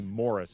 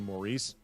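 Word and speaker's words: Morice: The American pronunciation tends to be Morris as opposed to Maurice.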